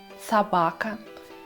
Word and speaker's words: собака: Ударение в русском языке может падать на первый слог, например, в слове «кошка», на второй слог «собака» или даже на третий и последующие, например, «крокодил».